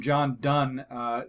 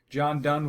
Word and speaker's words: Donne: have a quote from John Donne do NNE it's pronounced done though John Donne was a famous English